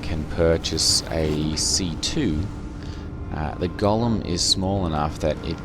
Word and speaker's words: Golem: empty ones onto your Golem. Or Golem, I suppose, as it's probably more properly pronounced.